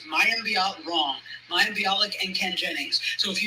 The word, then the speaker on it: Mayim Bialik: I always say her name right. It's Mayim Bialik and Ken Jennings.